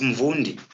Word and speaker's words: Mvundi: So in this case, you will give a company called Mvundi. Yeah, I'll pronounce it using my home language. It's Mvundi in isiZulu.